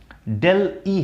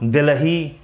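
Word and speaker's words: Delhi: जैसे कुछ लोग दिल्ही इसको बोल, तो दिल्ही नहीं होता है, डेल ई होता है।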